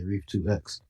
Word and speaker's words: Rief2x: I'm the second one, it's like Reef times two, but that doesn't sound right. So I just flipped it to Reef two times. That's the proper way to say it, but I just say Rief2x.